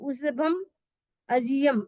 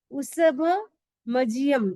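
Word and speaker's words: उसभमजियं: यहाँ पे कई लोग गलती करते हैं, लेकिन इसमें 2 शब्द है, उसभ और अजित। तो उस हम संधि विच्छेद करेंगे तो उसभम अजियम ऐसे निकलेगा, लेकिन हमें यहाँ पे साथ में बोलना है।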